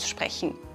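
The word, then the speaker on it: Stadt: We heard this in the dialogue, for example with the word "city", which we pronounce like "Stod".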